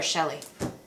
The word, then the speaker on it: Chelle: Is it Shell or Shelley? Chelle.